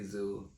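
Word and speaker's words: Zhu: This man, and I think it's pronounced Zoo, Z-H-U.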